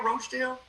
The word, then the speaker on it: Rochdale: How do you pronounce Rockdale? Rochdale?